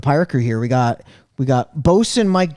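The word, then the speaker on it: boatswain: It's kind of spelled like bowswan. A bowswan. A bowswan, a bosun. It's a bosun.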